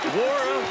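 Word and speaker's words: Nwora: Wara, the N is silent, and Louisville was Final Four tough today.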